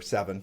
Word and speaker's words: Sevin: Seven, right? Yeah. Yeah. And it's spelled Sevin.